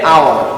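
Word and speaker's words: hour: For example an আওয়ার, দেখো এইচ, তাহলে হাওয়ার হওয়ার কথা ছিল, কিন্তু আমরা এখানে উচ্চারণ হবে এইচ এর পরে দেখো একটা বাওয়েল আছে ও, এই ও থেকে উচ্চারণ আমার শুরু হচ্ছে আওয়ার, তাহলে এন আওয়ার বলে।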